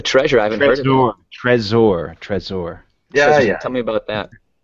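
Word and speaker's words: Trezor: I haven heard Tre treasure Tresor tell me about that well spelled it's spelled like he's saying t z r but we're pronouncing it like treasure but it's a it's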